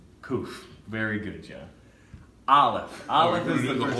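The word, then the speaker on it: א: Aleph, it's a silent letter. Makes the sound like whatever value you put with it.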